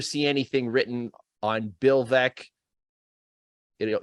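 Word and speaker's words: Veeck: anything written on bill veck it'll you'll probably mispronounce his name because it's spelled veek but his autobiography was was called vec as in wreck and he was the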